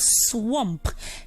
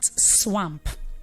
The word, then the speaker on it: swamp: And then I have swamp, not swamp.